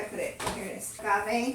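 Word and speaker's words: agave: it here it is goave how do you pronounce it that's aave yeah aave okay I pronounce I'm always pronouncing it wrong and getting in trouble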